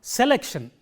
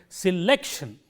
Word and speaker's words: selection: It is not selection. If I say that, I have made the first syllable stand out from the others, which is a wrong pronunciation. So, we have to say selection, and this is an important part of English.